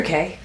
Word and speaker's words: Cay: And Ocean Cay is it Key or K? K, I think you can pronounce it either way, but I always say it K.